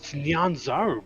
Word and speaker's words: Nyanzaru: Let me go pull up Ark's Nyanzaru. DM. Hold on. So because you're a Tabaxi, Nyanzaru. it has to be Nyanzaru. It's Nyanzaru, bruh.